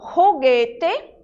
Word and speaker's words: juguete: Em espanhol, a letra J, ela tem um som parecido com o nosso R. Então, quando eu digo juguete, né, eu pronuncio o J como se eu estivesse falando o R do português e não juguete, certo?